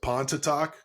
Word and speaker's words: Pontotoc: You were in junior college, and then you went and became the head coach at what is it, Pontotoc?